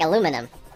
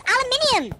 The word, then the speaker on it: aluminium: there's so much death why do Americans pronounce AUM umum like aluminum what aluminum what is that about it's aluminium I mean it just look at the letters aluminium you're nuts man wait